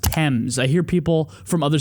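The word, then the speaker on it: Thames: the temps River here by the way it's pronounced TS I hear people from other cities called the FES River because it's t h m s have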